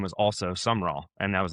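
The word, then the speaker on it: Sumrall: It's not summer. It's not s u m m e r. You'll spell it wrong if you do it that. It's s u m r a l l. More like Sumerol.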